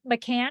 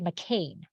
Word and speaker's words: McKahn: And am I saying it correctly? McKahn? You are. Okay. Yeah, you are. Okay. Yeah. So that is how I pronounce it, but I have relatives on the other side that they say McKahn.